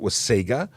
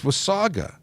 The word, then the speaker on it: Wasaga: morning from Osaka I said is it was Sega or was Saga and it's Wasaga and I will I will make sure I always say it correctly now thank you very much John was Saga not with Sega but so many people